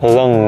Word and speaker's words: lung: Top 7 này hồi mới nhìn vào mình cứ đọc là lung trong từ lung lay đó mọi người, nhưng mà nó là lưng nè, phổi.